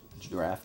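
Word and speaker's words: draught: and it has a draft style hood so that's this you pronounce that draft ya know let's draft DRA you GT ght is pronounced draft less like when someone says a draft beer that's how it's spelled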